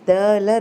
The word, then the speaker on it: the: First இந்த vowels இருக்குல்ல, AEIOU, அதுக்கு முன்னாடி இந்த டிஹெச்இ வேர்டு வந்துச்சுன்னா நம்ம அதை தீன்னு தான் ப்ரொனவுன்ஸ் பண்ணணும். சரியா? எதுக்கு முன்னாடி? இந்த வவ்வல்ஸுக்கு முன்னாடி. மற்றபடி எந்த லெட்டர்ஸ் வந்தாலும் நம்ம அந்த கான்சோனன்ட் இருக்குல்ல, அதுக்கு முன்னாடி தேன்னு ப்ரொனவுன்ஸ் பண்ணணும். வவ்வலுக்கு முன்னாடி தி ப்ரொனவுன்ஸ் பண்ணணும்.